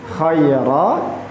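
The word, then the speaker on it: خَيْرًا: kho dan huruf ha khairro dan ruhma. Ee catatan sedikit bahwa ketika kita melafazkan huruf kho itu alakabnya terdengar jelas diibaratkan seperti orang yang sedang mendenggur ko.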